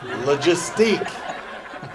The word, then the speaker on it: logistique: It's actually French, from France. And actually, it's pronounced logistics. Logistique.